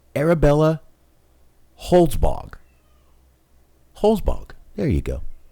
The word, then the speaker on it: Holzbog: Her name is actually very hard to pronounce. Arabella Holzbog. Holzbog. There you go. Arabella Holzbog.